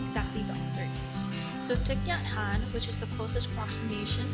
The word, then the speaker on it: Thích Nhất Hạnh: to know who exactly the author is so tatan which is the closest approximation to Vietnamese total pronunciation is also known as Tay or Thai